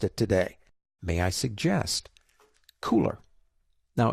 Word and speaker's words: Kuler: today may I suggest cooler now it's spelled kul ER but it is called cooler as in hey it's cool what is it well